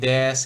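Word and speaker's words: です: Nah, su gitu ketemu di akhir kalimat itu dibacanya S aja. Jadi U-nya tuh hilang gitu. Seperti itu, seperti des ini kan sering banget nih kalau des.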